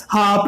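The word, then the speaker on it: half: हाफ में H silent नहीं है का अर्थ दे रहा है, तो यहाँ पे एक का यूज होगा।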